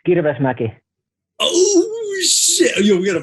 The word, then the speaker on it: Kirvesmäki: It's Kirvesmäki.